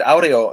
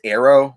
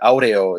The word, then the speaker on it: aureo: tell these two stories and so i said audio and and he said isn't it pronounced arrow because it's like wind like air and then